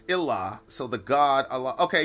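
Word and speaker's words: إله: In Arabic, God without a major G pronounces Ilah.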